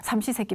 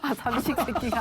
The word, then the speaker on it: 삼시세끼: 남성이 이제 집으로 들어와서 삼시세끼 밥 해내라고 그리고 딱 자리 차지하고 앉아 있으면 나가지도 안 하고 발음을 좀 잘해요. 3번의 식사지 삼식세끼? 삼시세끼. 삼식세끼가 아니라 삼시세끼. 죄송합니다.